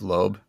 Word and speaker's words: Loeb: jeff jeff lemire the jeff lowe oh jeff loeb l-o-l-o-e-b would you say that's um yeah the